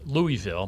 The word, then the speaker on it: Louisville: the proper pronunciation is louisville because it was named after uh king louis the 16th of france um but of course